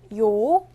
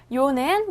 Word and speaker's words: 요: 요는 먼저 이를 소리내다가 바로 이어서 오를 소리내며 발음합니다. 이와 오를 순서대로 빠르게 말해요. 요는 먼저 위에서 아래로 2번 쓰고 왼쪽에서 오른쪽으로 씁니다.